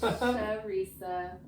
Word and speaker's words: Sheresa: It's Sheresa. That's how you say my name. Sharesa.